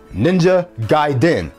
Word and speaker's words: Ninja Gaiden: So right now, I like to present five of my favorite games along with the correct pronunciations of their titles. Number one, Ico. Number two, Ninja Gaiden.